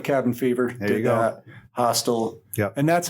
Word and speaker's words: Hostel: Hostel. Yep. And that's how you say it, by the way. It's called Hostel, not Hostel. Who the fuck would ever say Hostel?